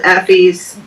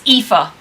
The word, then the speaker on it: Aoife: That Will was killed Effie's brother. Brother. It's Aoife. Aoife, sorry.